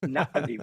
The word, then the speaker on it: Na'vi: It's Navi with the apostrophe is that little glottal stop there.